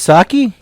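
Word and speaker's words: Psaki: secretary jennifer saki saki her name is pronounced saki there's a pea in it go on i wish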